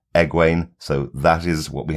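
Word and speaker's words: Egwene: episode uh on the show she's being called EG way so that is what we have to try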